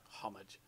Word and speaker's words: homage: a homage homage homage I refuse not to pronounce that H homage something that quent in